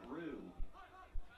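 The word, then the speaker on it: Roux: Now for your Crusaders, number 3, Shane Rue. Rue, kind of the French-sounding name with the R-O-U-X. That's how you spell it.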